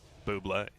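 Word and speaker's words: Bublé: good against this bubble please pronounce to Buble Buble is the proper origin pronunciation you guys big Michael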